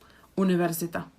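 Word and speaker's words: univerzita: language from different language with these we don't actually soften them so the pronunciation is like there is an epsilon universita university in this case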